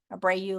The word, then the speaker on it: Abreu: like Angelina, Abreu like Bobby Abreu for those that follow baseball from years ago.